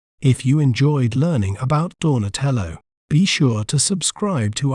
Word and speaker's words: Donatello: We may pronounce it as Donatello, Donatello, Do, Na, Te, Lo, Donatello.